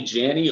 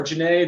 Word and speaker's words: Janney: So technically speaking, whether you call me Janney or Janney, they're both right.